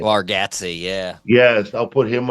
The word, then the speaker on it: Bargatze: Bargatze, yeah.